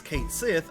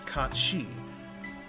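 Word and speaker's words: Cait Sith: Like, I know that, while it looks like it says Kate Sith, I know that's Kat Shi.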